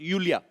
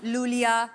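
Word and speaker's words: Iulia: Uh pronounce यूलिया। यूलिया। एंड the spellings are आई यू एल आई ए। सो, आई आई यू। You know I mean why I everyone is calling me लूलिया लोलिया बट लोलिया लोलिया आई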